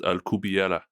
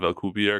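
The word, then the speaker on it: Alcubierre: Spanish I I found out that it's actually pronounced alera so it's like era at the end instead of alier because everyone says alier warp drive but but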